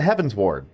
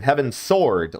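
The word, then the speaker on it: Heavensward: As I try to get into Heaven's Ward, which I realized yesterday that I've been pronouncing Heaven's Sword like a sword, not a ward, like a district or, you know, magical barrier, what have you.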